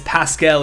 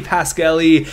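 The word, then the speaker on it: Pasquale: goalie his name is not pet it is Pascal Eddie Pascal I looked it up and it is pronounced that way so I am dumb but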